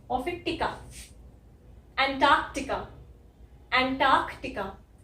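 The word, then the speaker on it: Antarctica: अब कुछ लोग इस वाले सी को साइलेंट बोलते हैं, ठीक है, एंटार्कटिका, एंटार्कटिका। फर्क देखा? फर्क यही है जो मैं ये वाला सी कुछ लोग बोलते हैं, कुछ लोग नहीं बोलते।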